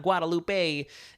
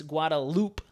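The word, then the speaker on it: Guadeloupe: Loop guadaloop guadaloop guadaloop I've been seeing a lot of people saying Guadalupe I know it's not Guadalupe a it's guadaloop Fruit Loop I'll start saying it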